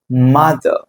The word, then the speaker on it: mother: Mother. Father. Father. Brother. Brother. நம்ம எப்படி சொல்லுவோம்? Father, mother, brother. No. So you have to pronounce these words or words as mother, father, brother.